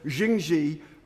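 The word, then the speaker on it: Jingye: Now, as we've heard and as we've read, Skunthorp's Chinese owners, uh, Jing Xi, I learn I should pronounce them, Jing Xi, uh, have have, uh, turned down, uh, offers of help, and they, uh, declare the Lincolnure plant as unviable.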